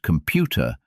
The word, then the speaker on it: computer: For example, if you say the word computer, you must put the energy on the middle part of the word.